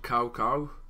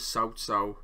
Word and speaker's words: Cao Cao: advent so in this game they call them cow cow but the correct pronunciation for him as southsau and i'm not gonna pretend i'm gonna get